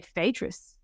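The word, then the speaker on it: Phaedrus: I think English speakers are supposed to say fadis uh but um again it's a one of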